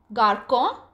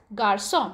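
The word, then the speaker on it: garçon: the pronunciation of the word instead of K garkon it's pronounced as Garcon because the study is placed on the letter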